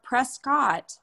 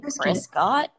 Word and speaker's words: Prescott: Like, why do we call spelled Prescott?